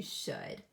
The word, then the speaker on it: should: word should so when all of these words would could and should we have oh you saying O and the L is silent so when you come across